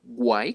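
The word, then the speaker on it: why: el siguiente W H que es Guay se pronuncia Guay con w y traduce porque entonces en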